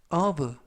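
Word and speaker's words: of: 뜻이 되겠습니다 이번 표현은 브 브라고 발음하시면 되겠고요 이때 유의하실 것은 F 발음이 V 발음이납니다 그래서가 아니라라고 발음하시면 되겠고요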